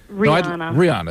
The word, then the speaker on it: Rihanna: though very good now how do you pronounce your name no rihanna okay great don't give up